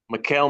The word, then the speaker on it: Michael: I think his name is, he pronounces it Mikkel, though. Mikkel McGee.